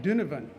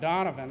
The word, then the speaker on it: Donovan: Cyrus first word or you pronounce it din oven not Donovan like i was saying course it screwed me